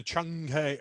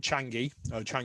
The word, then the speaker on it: Chang'e: Yeah, and the Chang'e, as it's pronounced, Chang'e or Chang'e, not Changi. You got to say the E with a kind of thing.